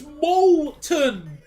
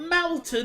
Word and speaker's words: Molton: It's Molton. Malt. Not Maltton. It's Molton. M O L T O N.